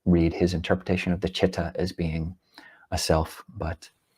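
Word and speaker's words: citta: Um so spelling is ci although it is pronounced in English chitta.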